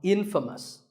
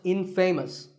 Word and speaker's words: infamous: you might just become infamous this word is the opposite of famous and it means famous for something bad but it's not pronounced in famous it's pronounced infamous alright I hope you